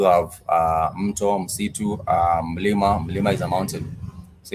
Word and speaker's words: mlima: So, mlima Everest, that becomes Mount Everest. Mlima. Mlima. Mlima. So, in the singular, it uh they start with the consonant mm.